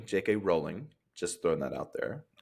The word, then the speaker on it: Rowling: to how JK Rowling. Yeah, it's um it's pronounced rolling. JK rolling. Just throwing that out there. Rolling like a boat.